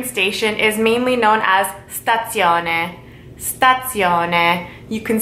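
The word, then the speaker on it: stazione: really the train station is mainly known as stats Yona stats Yona you can say the station lot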